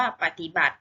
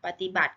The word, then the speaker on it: ปฏิบัติ: นะ คะ คำ ว่า ปฏิบัติ ไหม คะ ปฏิบัติ ก็ จะ ไม่ ออก เสียง อะไร คะ สระ อิ ตรง ตอเต่า เห็น ไหม คะ แต่